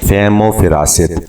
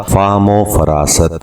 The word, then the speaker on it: فہم و فراست: ساتھ ہم ایک اور لفظ ہے فہم و فراست، جبکہ یہ لفظ درست تلفظ کے ساتھ ہوگا فہم و فراست۔ تو یہ غلطیاں جو